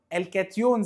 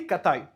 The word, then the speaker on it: كاتايون: قال لي طب يا مستر انا عايزك تحسب لي عدد مولات الكاتايون او الكاتيون زي ما بعض الناس بتقول او بتنطقه يعني الدارج، بس هو اسمه باللاتيني الاصلي كاتايون.